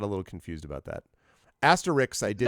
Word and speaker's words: Asterix: Wow, you mispronounced both of their names. What? What do you mean? One go. Not Asterisk and Obelisk. Asterix and Obelix. Okay, Asterix. With an X in the end. Asterix.